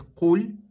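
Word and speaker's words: قل: человек произнесёт и скажет Куль это означает скажи если человек скажет Куль это означает ешь кушай Поэтому нужно быть осторожным и произносить чётко букву каф куль куль не Куль Вторая ошибка которая допускается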